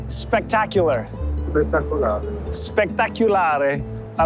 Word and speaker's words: Spettacolare: Spettacolare.